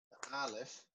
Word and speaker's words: alef: sound at all so the letter with no sound was of course the first letter alef and this letter is like the word honest it's almost you you don't pronounce it it's a more a breath that comes out of your mouth uh i just wanted